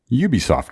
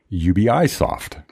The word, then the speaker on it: Ubisoft: Ubisoft and some say ubi soft CEO of the company Eve young mom says if you're speaking with the native English speaker its Ubisoft when you're speaking with